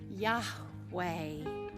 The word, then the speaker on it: Yahweh: God says and and the pronunciation is a mystery to us but we take our best stab at it God says my name is Yahweh the reason we really